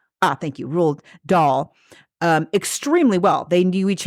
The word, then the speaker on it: Roald Dahl: RuPaul without the P. Thank you. Roald Dahl.